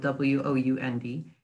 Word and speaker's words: wound: my toy or I wound up my clock, means to turn. The past tense of the word wind. Or you can pronounce it as wound, which means an injury.